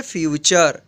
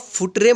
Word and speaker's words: future: इसके बाद FUTURE, इसको पढ़ेंगे फ्यूचर। फ्यूचर मीन्स भविष्य। इसको आप फुटरे मत पढ़िएगा, क्या पढ़िएगा, फ्यूचर। ये ध्यान रखिएगा, फुटरे मत पढ़िएगा, इसको पढ़िएगा आप फ्यूचर।